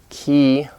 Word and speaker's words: key: doesn't so for example the word ki in English it's it's an E it's longer it's a bit longer than the key in Korean ki he in English